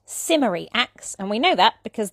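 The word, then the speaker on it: St Mary Axe: of low class so maybe this was a working-class way of pronouncing the street name and certainly today no one will mind if you call it Saint Mary acts but yes simmery acts as a traditional pronunciation and that's the one I use British place names are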